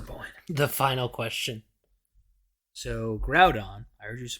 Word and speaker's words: Groudon: So Groudon, I heard you pronounce Groudon.